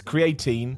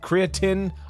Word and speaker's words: creatine: because people get mad i'm british right so we pronounce it's creatine but i think it's also pronounced creatine i don't know these